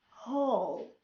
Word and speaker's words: whole: بمعنى ملي كيكون عندنا word كتبدا WHO, W هنايا is silent. An example: who, whom, whole, whoever.